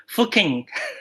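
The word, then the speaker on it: Fuqing: Fuking. Oh, Fuking. That's how we pronounce it.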